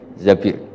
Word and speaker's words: Zabir: Zabir di di hadis ini bukan bacanya bukan Zubair tapi Zabir Abdurrahman Bin Zabir tapi